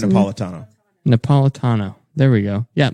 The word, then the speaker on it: Napolitano: Napatillo? Is that how you pronounce Andrew it? Napolitano.